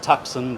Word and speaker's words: Tucson: Pronounced Tuxen, by the way.